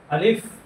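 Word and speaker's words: ألف: তো আমাদেরকে জানতে হবে যে এই 29 টি হরফের মধ্যে আলিফ এবং হামজা এই দুইটি হরফ টান ব্যতীত পড়তে হবে। আর বাকি যতগুলো হরফ আছে সবগুলো হরফ আমরা টেনে পড়বো। যেমন আলিফ আলিফ।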